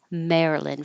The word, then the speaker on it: Maryland: slightly different vowels but in the name of the state Maryland it's pretty much me Maryland for everyone Maryland and if you release the D that's fine because it's there and and we looked